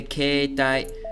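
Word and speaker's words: 携帯: Now, many people want to say that the E and the E here, when put together, just make a long E sound.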